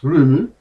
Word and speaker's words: Roma: But before all that heady stuff, let's head back to Roma, pronounced Rumu. I returned to the island 26 years after first visiting it.